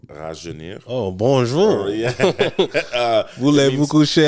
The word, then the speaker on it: Rajeunir: It's called Rajeunir.